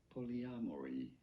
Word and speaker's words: polyamory: Polyamory. You don't want to stress on the R syllable.